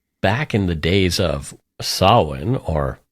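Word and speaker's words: Samhain: um people believe back in the days of saan or it's it's spelled like Sam Hayne but it's pronounced sin um October 31st and November 1st supposedly marked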